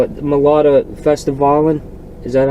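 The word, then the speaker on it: Melodifestivalen: the I don't know how they call it, Melodica Festivalen. Is that how it's pronounced?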